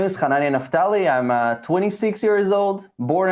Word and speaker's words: Hananya Naftali: I am here with Hananya Naftali. Did I say that right, Hananya? Am I mispronouncing it?